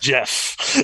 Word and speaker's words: Geoff: then we had um it's pronounced jeff yeah it's pronounced yeah